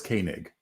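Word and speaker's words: Koenig: I was gonna talk about yes please Walter kanig uh is that how you pronounce it how do you pronounce it John my understanding is it is properly pronounced as kig kig kig yeah uh he was not hired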